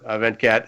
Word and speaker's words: Venkat: my pleasure so let's just dive in there event cat hey by the way how close did I get to pronouncing your name correctly you got that right